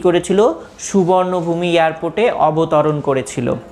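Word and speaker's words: สุวรรณภูมิ: তাহলে বলছে প্লেনটি 4:55 অর্থাৎ বিকেল, PM দেয়া আছে, দেখো বিকেলে 4:55 কি করেছিল, সুবর্ণভূমি এয়ারপোর্টে অবতরণ করেছিল। The name সুবর্ণভূমি is pronounced at সুওয়ার্ণাপুম। এই সুবর্ণভূমি এয়ারপোর্টটা কি হিসেবে উচ্চারিত হয়?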